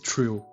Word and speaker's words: TR: Esse TR pronuncia-se trill e os personagens do anime também aparecem nos jogos Super Robot Wars V e Super Robot Wars X.